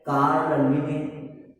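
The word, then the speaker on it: Carl Linné: देखिए इनका उच्चारण जो है वो कहीं कहीं पर अलग अलग होता है। जैसे कहीं पर दिया है कैरोलस लिनियस, कहीं पर दिया है कार्ल लिनी, ठीक।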